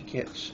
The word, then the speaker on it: Kitch: Just a little plug, the podcast I heard it on is Creepy Kitsch, and it's Kitsch is spelled Kitch, to rhyme with bitch.